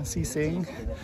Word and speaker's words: Qixing: So the spelling differs sometimes, but here that's how it's spelled. Elsewhere it starts with Q and then X. This one is with a C and an S, but the pronunciation is more or less the same.